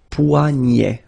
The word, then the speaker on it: poignet: Le poignet, le poignet. So this combination of ET at the end will basically open the sound, so you get poignet. Okay, remember, G-N, poignet, le poignet.